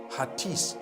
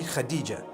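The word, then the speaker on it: Hatice: In Turkish, some people spell it H-A-T-I-C-E. I would say Hatis for that. No, it's actually Khadija. In Turkish, that's the way they write it.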